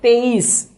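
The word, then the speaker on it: तेईस: 23 is called as teis. So let us write T-E-I-S.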